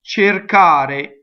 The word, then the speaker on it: cercare: So this is an infinitive, and the accent is on the a, right? So it's cercare, cercare. So the first E is closed.